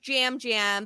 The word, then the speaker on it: Yam: from Puerto Rico, and in Puerto Rico, the Y's are pronounced like J's in a lot of names. I figured. So yeah, so his name is pronounced Jam because, and even though his name is spelled Yam.